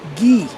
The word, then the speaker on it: Guy: good point he says in france they pronounce guy ghee you ever heard that